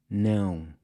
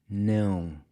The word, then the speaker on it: não: Now, try keeping your mouth just barely open when you say it… “não”… “não” So if you wanted to say “I DON’T wanna go”, you’d say **“Eu NÃO quero **ir”…**“Eu NÃO quero **ir”.